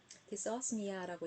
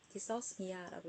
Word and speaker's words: dysosmia: dysosmia라고 얘기를 하죠. 영국식 발음과 미국식 발음이 조금 다르긴 한데 제가 이게 발음이 영어 발음을 하게 되면 사투리가 다 들어갑니다.